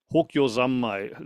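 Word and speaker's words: Hokyo Zanmai: And then normally in 2 weeks, I would get back to the Hokyo Zammai. Let me use the Japanese pronunciation because I confuse the Chinese all the time.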